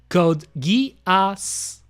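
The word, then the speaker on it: Code Geass: And I said I read every cana out loud and I said if you read the kana it's it's pronounced as code gas gasu pretty much you know metal gas solid gas of war pretty much.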